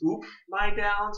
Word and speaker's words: Oop My Downs: So my name is Oop My Downs.